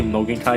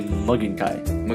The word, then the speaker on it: Mugen Kai: I like how when you say Mogan Kai, you say Mugen Kai. Mugen Kai. Mugen Kai. Mugen Kai. Mugen Kai. Yeah, it's like Mugen. Mugen Kai. Kai. It's easy. Mugen Kai. Three syllables.